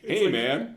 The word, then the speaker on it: Heyman: Heyman is spelled Heyman, just like it says. Heyman.